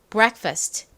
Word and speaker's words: breakfast: R 다음 뭐였죠이가 옵니다 여기서이는에 소리가납니다 그리고 크 소리 나는 k 다음 first 부분은요 F A S입니다 여기서가 힘이 빠진 어 소리가납니다 다 해보면 bre Fast breakfast bref 됩니다 따라해 보세요 아침 식사